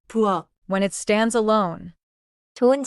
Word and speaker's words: 부엌: At the end of a syllable, Korean allows only a small set of final sounds.